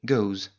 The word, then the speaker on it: goes: qui donneront does et goes. Pour cela, on ajoute bien un e supplémentaire, mais le s se prononce quand même z.